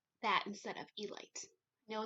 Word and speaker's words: Elite: I know it is the elite, not the elite. It is the elite.